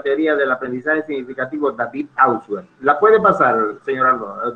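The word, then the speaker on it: Ausubel: Una de las cosas que más le llamó la atención a Auswell fue, y no es Auswell, como la gente le pronuncia, es Auswell, es precisamente él tiene una gran convicción cuando lee el libro de pensamiento, lenguaje y pensamiento de Vygotsky.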